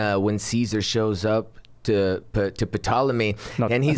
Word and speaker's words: Ptolemy: when he goes to patalaman or Ptolemy whatever there's a silent P maybe silent P you know what I